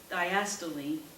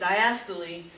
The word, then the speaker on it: diastole: the chambers is in diastole diastole that's how you say it it's not how you read it that's how you say it diastole that's when that part